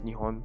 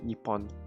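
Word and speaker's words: 日本: I guess some people say it differently, but for me, I think the actual correct way to say is Nihon. Because I hear it used a lot more than Nippon.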